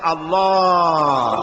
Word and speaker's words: আল্লাহ: পাকের নাম উচ্চারণ হচ্ছে আল্লাহ মুখটা একটু গোল হয়ে যাবে বলেন আল্লাহ আল্লাহ সুবহানাল্লাহ পৃথিবীতে বিভিন্ন জাতি